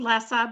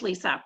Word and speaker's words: Lisa: unmute yourself sorry um yes it's lisa i called lessa but it is lisa oh good i was